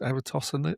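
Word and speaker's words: Eratosthenes: Eerostos.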